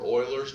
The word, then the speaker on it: Euler: we said we normally use of x or euler's notation which i don't you don't need to